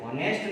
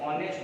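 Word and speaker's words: honest: हिंदी का वर्ड देखो साथ में, हिंदी के देखो, इसको हॉनेस्ट नहीं बोला जाता है, इसको हमेशा ऑनेस्ट बोला जाता है। ध्यान रखना क्या बोला जाता है, ऑनेस्ट बोला जाता है, क्योंकि एच इसमें साइलेंट होता है, एच के बाद वाला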